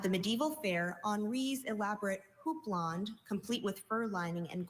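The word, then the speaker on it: houppelande: Your word is houblonde. Could I have all the information, please? Houblonde is the only pronunciation at this entry.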